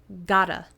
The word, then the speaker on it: gotta: And in fast speaking, got to is pronounced like gotta.